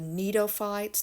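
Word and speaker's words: gnetophytes: Okay, but anyway, the last grouping are the neophytes. That G is silent, and the example is ephedra, but we are not looking at these in lab, so I'll just cross it out.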